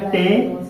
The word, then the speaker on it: tame: और हमने बताया कि अगर लास्ट में ई आपका लेटर आएगा तो उसको पढ़ना नहीं, क्योंकि वो क्या होता है, साइलेंट होता है, मतलब उसका प्रोनाउंसिएशन, उसका उच्चारण हम नहीं करते हैं, ठीक है। तो अब ये अपनी ए इसको मात्रा देगा तो क्या जाएगा, टेम।